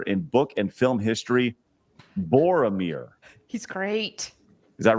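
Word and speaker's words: Boromir: most well-written character in book and film history Bor Amir he's great is that right Bor Amir did I say it right yes Bor yes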